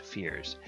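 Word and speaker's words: feyr: find is second edition the fear f-e-y-r and it says that they are pronounced fears and they're created from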